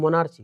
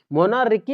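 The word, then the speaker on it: monarchy: मोना और Richie, मोनार्ची, मोनार्की या मोनार्ची है तो मोनार्की, मोनार्की भी पढ़ी या फिर मोनार्ची, हमको स्पेलिंग आता है ची से, CHY, इसीलिए मोनार्ची पढ़ते हैं, लेकिन मोनार्की पढ़ी।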